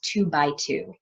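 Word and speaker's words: 2×2: And so it's spelled out as 2x2, but we pronounce it as 2-by-2.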